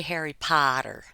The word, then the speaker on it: Potter: Boston would say because for me that's Harry Potter there's an r on the end it may be a quiet R but there is an R Potter Harry Potter he